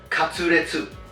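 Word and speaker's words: カツレツ: In Japan, it is pronounced katsuretsu.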